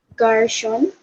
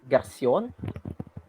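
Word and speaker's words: garçon: Garson. Mm-hmm. So that is kind of close. So the pronunciation of that is Garcion.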